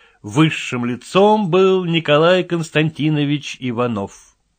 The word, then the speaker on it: Иванов: его фамилия несла ударение ударение у Николая Константиновича падала на последний слог Фамилии вычиталась Иванов Дело в том что Ивановых то есть людей несущих ударение на последнем слоге своей фамилии необходимо отвечать от их однофамильцев у которых ударение падает на второе слог Иванов и Иванов ничуть